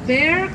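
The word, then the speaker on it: Bexar: the beautiful red building is called the Bear County Courthouse this case bear is spelled b x a r County Courthouse is buil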